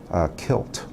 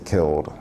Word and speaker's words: killed: Kilt, you hear that a lot. And someone, you should say killed instead of kilt.